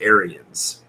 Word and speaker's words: Aryan: It can be pronounced both ways. Okay. But it's more Aryan.